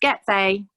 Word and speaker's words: Gyetvai: Its pronounced Get-vay It's Hungarian Well I think if there's no more questions - have you got anything else that you'd like to add Michala?